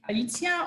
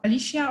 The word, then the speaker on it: Alicja: You can call me Alicja or Alicia or Alice, as you want and as you can pronounce it.